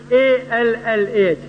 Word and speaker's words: Allah: We Muslims, when we write in English Allah, we write A-L-L-A-H. But Reverend Scofield wrote A-L-A-H. They pronounce Ella, we pronounce Allah.